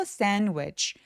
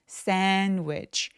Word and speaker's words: sandwich: 요 중간에 D 발음 삭제됩니다. 이거 왜 그러냐면 NDW 이렇게 자음이 3개가 뭉쳐있을 때 중간에 낀 D나 T 소리들이 많이 삭제가 돼요. 그래서 편하게 발음하려고 sandwich, sandwich 라고 표현해 주시면 돼요.